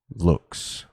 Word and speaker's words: lux: l v x and pronounce the lux what the u sounding like in tube looks in rituals we represent